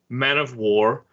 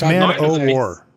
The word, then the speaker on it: Man o' War: this cycle was Necrotile, Man of War. It's Man O' War, not of War. Yeah. Don't mispronounce Man of War on this podcast. That's Man O' War.